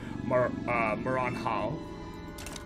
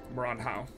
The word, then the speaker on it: Maranhão: mines up here in Maranhão. That's not Asian. I pronounced it like it was an Asian. Maranhão.